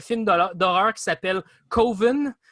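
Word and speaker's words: Coven: d'horreur d'horreur qui s'appelle covin qui devrait se prononcer commune le yendo klaba dans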